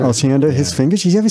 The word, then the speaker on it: Osiander: How do you pronounce the name? Kurt Osiander. Osiander.